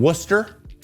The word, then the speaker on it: Worcester: He was called up from Worcester. Yeah, that is how it's pronounced.